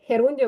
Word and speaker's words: gerundio: Герун херундіо. Воно читається так. Герундіо.